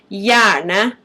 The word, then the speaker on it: hjerne: In Norwegian, it's pronounced hjerne.